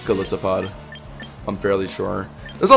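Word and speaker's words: Golisopod: Galisopod. Well, okay. Yes, it is based off of an it is based off an isopod, but I'm pretty sure the official uh pron pronunciation is galissopod.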